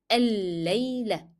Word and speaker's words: الليلة: But the one that is preceding lamb with shadda will not be pronounced because we agreed before that if lamb in the definite article L is followed by a shadda letter, then this lamb will not be pronounced in the word.